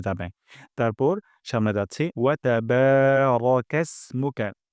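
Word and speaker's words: تبارك: ওয়া তাবারাকা ইসমুকা, বাতে আমরা এক আলিফ টেনে পড়ব। তারপর এখানে এখানে বলতে হবে, রা বলব না।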